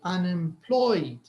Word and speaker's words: unemployed: to see how when the speaker arrives at this syllable it will be a little more stressed than the others that's why they will say unemployed ployed so the part where they say Ploy is is a little higher or let's say more stressed than UNAM unim unemployed so unim is you